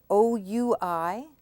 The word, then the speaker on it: oui: OUI, the OU is pronounced W, and then you have the E. We. We.